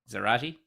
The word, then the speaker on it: Zarate: Now, I'm pronouncing that rhymes with karate. Zarate.